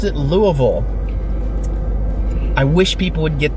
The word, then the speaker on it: Louisville: by the way I know anywhere else is pronounced Louisville but in Kentucky we pronounce it Louisville I wish people would get that answer sales